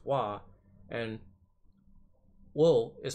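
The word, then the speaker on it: は: level ha as far as particles go are pronounced wah and wool is pronounced oh now this might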